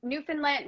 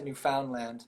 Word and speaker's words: Newfoundland: you you went to newfoundland newfoundland newfoundland i never pronounced it correctly yeah neither do i think i think they pronounce a new found land but i always say newfoundland yeah that's how they